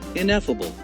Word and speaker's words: ineffable: The word is typically pronounced as ineffable. Here's a breakdown of the pronunciation. In as in in ef with the stress on this syllable, similar to e ff as in effect.